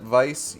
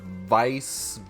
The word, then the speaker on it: Weiss: I'm pretty sure that Vice uses the proper pronunciation where the W is pronounced as a v so I would have to say like grimoire Vice ven's day I want